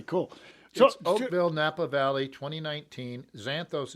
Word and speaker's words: Xanthos: oakville napa valley 2019 xanthos is spelt with an x x a n t h xanadu remember the old movie